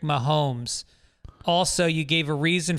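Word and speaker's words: Mahomes: a ton of these you pronounce Patrick Mahone when it's actually Patrick momes also you gave a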